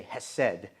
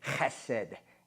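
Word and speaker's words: חֶסֶד: Now, in English, we say hesed because we don't usually speak, with the Hebrew tongue, but it's actually chesed. You got to get that in there. So if you want to say it properly, it's hesed, but we say hesed. We just use the H.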